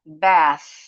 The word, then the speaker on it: bath: Ini juga bath. Bath. Harus ditahan dulu hembusannya supaya enggak kedengaran kayak bunyi te.